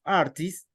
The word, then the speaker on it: artist: But in the case of artists, the end of this word, the letter T is pronounced very, very light.